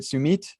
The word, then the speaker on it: Sumit: your name is it sumit yes so the so mit is like with the shorty sound so it's submit not submit okay cool cool thanks